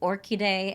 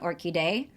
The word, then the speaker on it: Orchidée: to pronounce that, and actually in an interview, Kaveh Akbar says both Orchidée and Orchidée. So Orchidée is what they tell you when you look it up on, how do I pronounce this name?